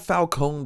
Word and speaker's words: Falcone: Yeah, and then go and then find Falcone or whatever. Which, by the way, they mispronounce Falcone the entire movie just so that they can call it Falcon.